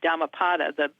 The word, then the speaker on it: Dhammapada: That's spelled variously, but it's D as in David, H-A-M-M-A-P-A-D-A, Dhammapada.